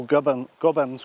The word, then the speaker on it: Gobbins: We know in this part of the world we talk about our gob or our mouth, which is the first part of the name. And the name for the Scottish mountains is Bens, which would originally have been pronounced Bins. So Gobbins comes from those two words.